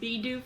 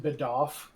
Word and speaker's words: Bidoof: But I absolutely am going to correct the kid at school that calls it Bidoff.